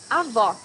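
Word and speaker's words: avó: words pronounce in portuguese avo grandmother here you need to hear the sound of the last o in the syllable it should be an open o as the same portuguese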